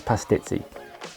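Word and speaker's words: pastizzi: and if you're wondering the correct way to say it is pass titsy next it was back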